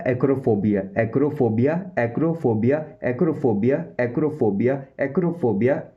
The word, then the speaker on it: acrophobia: और जो professional English language में आप बोल सकते हो एक्रोफोबिया। एक्रोफोबिया, एक्रोफोबिया, एक्रोफोबिया, एक्रोफोबिया।